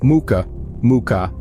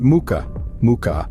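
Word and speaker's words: мука: For example, muka means flower, but muka means torture. Remember, practice makes perfect when it comes to pronunciation.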